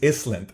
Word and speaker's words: island: Gilligan's Island okay and I used to always say Gilligan's Island and kids would laugh but the S is silent and then why do